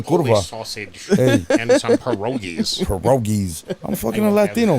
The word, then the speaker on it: pierogi: and some pierogies. Pierogies. I'm fucking a Latino, man. I can't say it. Pierogi? Well, how do you say it? Pierogi. Pidiogi.